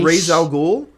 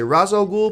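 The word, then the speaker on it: Ra's al Ghul: pronounce Rael ghoul's name because if you if I say Rael ghoul people say it's razal ghou you idiot and if I say razal ghoul people say it's raal ghou or Raz ra with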